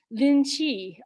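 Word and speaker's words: Linji: in time to china to lin chi you might know him at the din'zai the japanese pronunciation and hearing the nambuchu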